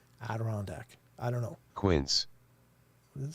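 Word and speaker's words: Adirondack: Do you know I couldn't say Aderandac to save my life for a long time. I would always pronounce it a direc. But it took me forever to be able to say aderondac.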